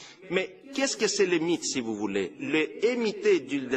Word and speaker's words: MIT: Pendant le mandat de Fidan, les mythes, je dis mythes parce qu'on les prononce mythes, on ne dit pas MIT, a massivement recruté des ingénieurs,